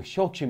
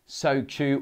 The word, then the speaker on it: Shochu: By the way, Shochu is not pronounced Sochu or Soshu. Both H's are required. The word in Japanese is Shochu, but it's anglicized to Shochu, like Shogun or this guy.